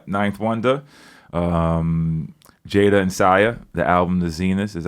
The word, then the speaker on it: S14H: S I Ah, it's pronounced Sia. S14H is pronounced Sia.